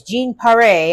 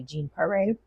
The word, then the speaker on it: Jean Paré: Again, guys, Jean Paré, I was saying her name wrong. It's actually Jean Paré. French, has a little accent above the E.